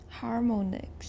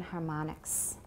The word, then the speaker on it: harmonics: We pronounce it like ah.